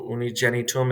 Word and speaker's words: unigenitum: But it sometimes makes a J sound when before E or I. Filium Dei unigenitum. So unigenitum, it's before the letter E here, so it's making a J sound.